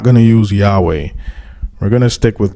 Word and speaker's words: Yahweh: forward it says while inclining to view the pronunciation Yahweh as the more correct way we have retained the form Jehovah because of people's familiarity with it since the 14th century so wasow is admitting that Yahweh is the more correct way to pronounce almighty